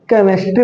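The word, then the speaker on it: chemistry: ज सी के बाद देखो एच आया तो यहां पर एच साइलेंट हो जाता है इसको केमेस्ट्री नहीं पढ़ते क्या पढ़ते केमेस्ट्री पढ़ते है क्या पढ़ते है केमेस्ट्री एच क्या हो गया बाबू साइलेंट हो गया क्या हो गया बच्चों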